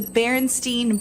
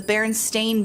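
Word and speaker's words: Berenstain: always thought it was the barenstein Bears s t i n but it's the baron stain Bears stain Baron stain the this difference in spelling has puzzled people who could have sworn it was spelled with an E I'm like either we're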